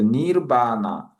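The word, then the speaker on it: निर्वाण: 그래서 니 요게 신기한게 받침이 여기 있습니다. 이거 원래 알바음인데 니르 그다음에 여기가 바 나 이렇게 돼서 니바나 해서 여기에서 니는요 그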